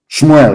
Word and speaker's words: Shmuel: me tell you what samuel said shmuel of course correct pronunciation as your sword has